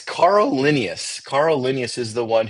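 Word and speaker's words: Carl Linnaeus: It's Carl Linius.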